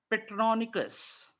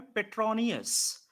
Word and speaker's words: Petronius: ठीक है, देखिए, एक लैटिन पोएट हैं जिनका नाम आप लिख लें, पेट्रोनिकस।